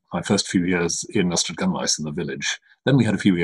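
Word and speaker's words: Ystradgynlais: times I go to it, I still cannot pronounce it. Ystradinglas, and I've Ystradgunlais. Ystradgunlais.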